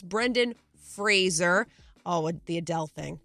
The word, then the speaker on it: Fraser: he wasn't a jerk about it but it's Fraser Fraser not Brendan Frazier Brendan Fraser not Kelsey Grammer Frazier it's Brendan Fraser oh with the Adele thing we went through